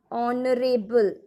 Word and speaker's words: honorable: An honorable. Honorable, h is silent, h is not stressed.